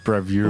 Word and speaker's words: Bravura: pronounce it so today we'll be talking about bravura no no what what what was it Brava oh that's what I said no you didn't bravura yes bravura what did I say bravura h i just I combine some letters togethera